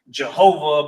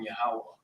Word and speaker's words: Yahweh: Some English Bibles may have certain times where it says Jehovah, but we know that Lashon Kodash doesn't have J's in it, so we won't really refer to him as that particular pronunciation. We'll just call him Yahweh because we're trying to